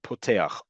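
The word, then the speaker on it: פותח: If a word begins, a Hebrew word, Hebrew in origin word, like poteah, opens, begins with a pe, you pronounce it with the dot in the middle, poteah.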